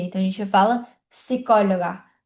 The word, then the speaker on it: psicóloga: letra P é que quando a letra P está junto com a letra S, a gente não vai pronunciar a letra P. Então a gente diz psicóloga, psicologia, diferente do português, que é psicóloga, psicologia, né? Então no espanhol não tem esse P. Se escreve com P, mas a gente não pronuncia.